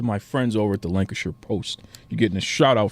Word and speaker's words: Lancashire: make sure I got this right how to pronounce this okay it's Lancashire okay like Liang Liang er yes Lana sure